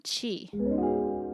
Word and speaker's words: Qi: and building your own Chi what is chi soqi which is spelled Qi is a concept from